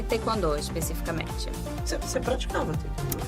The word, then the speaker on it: taekwondo: eu trabalhava na produção, era terceiro setor e taekwondo, especificamente. Você praticava taekwondo, né? Sim. Taekwondo, isso. é a pronúncia correta.